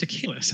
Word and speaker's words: Achelis: a guy named Steve Achelis. Is that right? Mm-hmm. Yeah, it's actually pronounced Achelis.